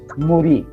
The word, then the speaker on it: Muri: Muda, Mura, Muri. You know, those are 3 words starting from mu, mu, mu.